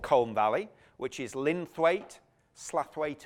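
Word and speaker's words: Slaithwaite: So the valley of Colne Valley, which is Linthwaite, Slathwaite or Slowett, depending on how you pronounce it, or Marsden.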